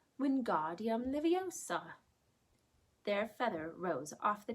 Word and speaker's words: Wingardium Leviosa: having much more luck Wingardium Leviosa he shouted waving his arms like a windmill you're saying it wrong Harry heard Hermione snap its Wingardium Leviosa make the GAR nice and long you do it then